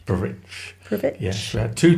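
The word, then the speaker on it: Prvić: water taxi to, I think you pronounce it Prvic. Prvic.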